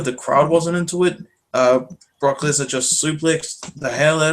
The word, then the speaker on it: Lesnar: Dean Ambrose versus Brock Lesnar. No. You're saying it wrong. Brock Lesnar.